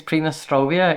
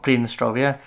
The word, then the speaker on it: Pridnestrovie: I've been saying it wrong, by the way. I think it's Pridnestrovia, even though it's spelled Pridnestrovie. I think with the Russian pronunciation, it's ear at the end.